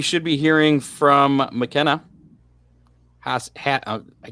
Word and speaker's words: Haase: Well, anytime now, we should be hearing from McKenna Haase. Haase. Like sassy. Sassy Haase. Spelled like Haas, but pronounced Haase.